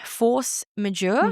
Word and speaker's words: force majeure: Force majeure. Yeah. That's how you pronounce it.